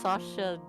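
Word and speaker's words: Saoirse: an irish it's like that dirt like what sasha mirrored in something oh yes so yeah that's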